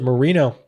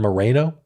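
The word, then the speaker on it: Moreno: and it's Bernie Marino he pronounces it Marino I think because he doesn't want to sound ethnic Marino sounds less ethnic than Mareno I don't know but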